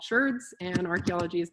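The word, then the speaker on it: sherd: my work was going out and studying ceramic shirts which is not me mispronouncing the word chard they're called ceramic shirts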